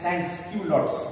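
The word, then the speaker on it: sans-culottes: sense Q lots स sense Q lots इसको कैसे प्रोनाउंस करेंगे sense S ए एन एस ए एन जड इसको बोलेंगे सेंस क्यू लॉट्स एओ पीएस सेंस क्यू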